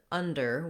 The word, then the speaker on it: under: So when we have the word under, we just have two syllables, and the first syllable is stressed. So that means we're going to have a long stressed schwa in this word, un, and you need to